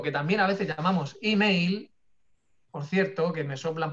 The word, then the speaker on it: email: Y además, se dice, para hacerlo más complicado todavía, se dice email con i, pero se escribe como lo estáis viendo aquí, email.